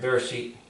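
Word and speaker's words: בראשית: This probably has a dot in here, Bereshit. So it's pronounced as a B instead of a V.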